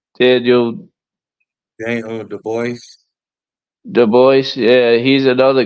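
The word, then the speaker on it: Dubois: body shot you say his name Daniel Daniel de Boyce de Boyce yeah he's another guy I want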